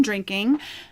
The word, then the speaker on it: Drinkin': This is the NCL Los Angeles in the shade I've Been Drinking, or Drinkin', apostrophe with not the G on the end.